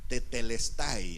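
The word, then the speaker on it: τετέλεσται: La palabra griega es la palabra tetelestai. Tetelestai, así exactamente como se oye, así se escribe.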